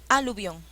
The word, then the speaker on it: aluvión: aluvión ahí sí aluvión cuál es la celaba que lleva la mayor fuerza de voz y obvio la sílaba que lleva la mayor fuerza de voces vio a luz vio en la que se